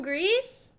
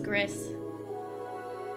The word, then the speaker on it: Gris: look at the gameplay from Greece also I did not know that's how you were supposed to pronounce that I always thought it was Gris ooh I already love